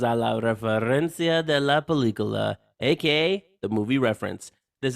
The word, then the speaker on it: película: Bienvenidos a la referencia de la película, aka the movie reference.